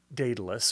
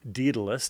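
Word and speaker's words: Daedalus: Uh there's this cretton labyrinth that was built by uh by Datalus or Dedalus depending upon how you want to pronounce it and your whether you're trained in classical Greek or not.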